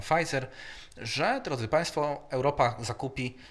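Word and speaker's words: Pfizer: negocjował z koncernem medycznym na p wymawia się pizer że Drodzy państwo Europa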